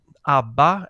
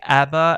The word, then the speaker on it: ABBA: can say it in any language you can pronounce it you know ABA as we say in Sweden or you can say Abba as they say in Great Britain or ABA as you say in the United States or